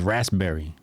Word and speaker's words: raspberry: It says, "Yes, the P in Raspberry is silent."